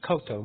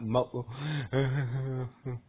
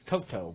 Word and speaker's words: Coto: So basically I miss being I've been missing Kiki Kiki's partner's name is her name is Coto not Mo it's Coto.